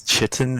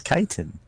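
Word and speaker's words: chitin: how to pronounce it I always thought it was cheating until I heard someone else say no it's kaitan many words that that happened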